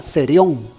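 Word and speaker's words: θηρίον: porque esta palabra fieras en la voz griega se pronuncia serio serio en la orilla esa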